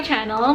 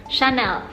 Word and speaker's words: Chanel: pronounciation (in French) is Shu - Nel So it's not Channel or Shinel But Shu - nel Without further ado, let's move on to 10 Facts of Chanel Let's go!